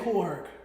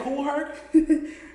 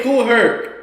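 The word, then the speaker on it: Kool Herc: DJ Koolh. Okay, that's why you're you're saying hell weird. DJ Cool Herk. DJ Cool Herk.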